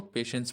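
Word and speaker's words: patience: अच्छा इसमें जो टी है ना ये साइलेंट होता है। तो इसको पेशेंस पढ़ते हैं।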